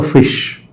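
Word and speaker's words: ghoti: In that way, G-H for O, E, T-I, sh. So we can justly read it as a fish, F-I-S-H, fish.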